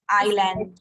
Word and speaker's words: island: It is island. Island, yes. S is silent.